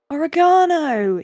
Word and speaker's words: oregano: um no emphasize um oregano yeah oregano oregano oregano orano oregano oregano yeah you yeah you you emphasize the second one as opposed to us sprits that um emphasiz